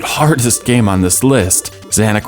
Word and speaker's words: Zanac: Zanac rhymes with panic, or at least I think it does, and perfectly explains how I feel when playing this game.